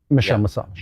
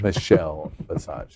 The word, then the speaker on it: Michelle Visage: Emmy award-winning Michelle Massage. Michelle Visage. Emmy Award. That's how you pronounce it.